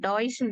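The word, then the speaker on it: Deutsch: சொல்லுவோம் பட் ஆனா பாத்தீங்கன்னா டாய்ஸ்னு தான் சொல்லுவோம் நம்ம that is டி இ யூ டி எஸ் சிச் அதான் அதோட ஸ்பெல்லிங் ஆக்சுவலா வந்து நம்ம சொல்றது வந்து டாய்ஸ்ன்னு தான் சொல்லுவோம் நார்மலா வந்து இப்ப நமக்கு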